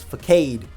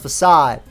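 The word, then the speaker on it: Façade: is so powerful that it has to use fake aid pronounced facade but it's fake aid in this case it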